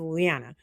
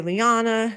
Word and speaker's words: Leanna: But me, the way my family pronounces it and the way I pronounce it is Leanna. Leanna. Some people say Liana. Some people say Leanna.